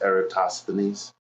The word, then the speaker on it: Eratosthenes: It's Eratosthenes.